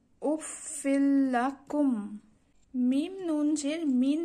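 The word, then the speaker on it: أف لكم: লাম জবল্লা কাফ মিম পেশ কুম, উচ্চারণটি এভাবে হবে উফিল্লাকুম।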